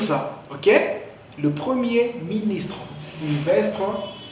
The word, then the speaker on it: Sylvestre: Sylvestre. C'est bien prononcé.